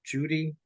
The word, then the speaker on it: Cudi: And I believe that our Muslim counterparts have it right, in that it was indeed Mount Judi or Mount Cudi, Cudi, but it's pronounced Judy.